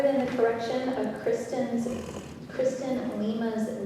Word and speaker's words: Lima: information, Chairman, her name is pronounced Lima.